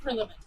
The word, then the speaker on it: Prillaman: would you pronounce your last name so I say it properly? Prillaman? Prillaman.